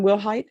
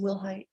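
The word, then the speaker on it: Willhite: and are you Megan will height yes ma'am am I pronouncing your last name correctly yes ma'am will height all right I'm going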